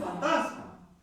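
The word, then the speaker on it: φάντασμα: Es la misma, pero con el acento en otro lugar.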